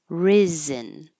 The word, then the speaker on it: risen: Risen. The vowel is I as in hit. So keep your tongue a little lower, not E like reason, but ri, risen.